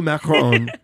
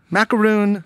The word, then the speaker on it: macaron: yes you said it right from little blue macaron here they are the vicks welcome thank you thank you happy to be here yeah welcome okay real fast macaroon macaron yes what's the difference so a macaroon